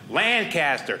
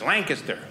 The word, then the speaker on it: Lancaster: I was doing a place, Lancaster, Pennsylvania, and I said that right, because the first time I performed there, I made the mistake. I said Lancaster, and everyone that lived there went Lancaster. It's Lancaster.